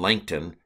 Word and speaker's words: Langton: And the year was, but in the early 1200s, the Archbishop of Canterbury, Stephen Langton, rhymes with plankton, added the chapter divisions as we now have it.